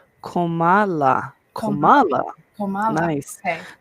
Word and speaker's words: Kamala: And we have here, um, Asia said it's pronounced like Komala.